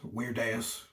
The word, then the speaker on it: Virdeus: But the actual pronunciation, if we were being accurate, would be Virdeus, because Latin has V's that sound like W's. But because of his strange name, you can call him Virdeus, Virdeus.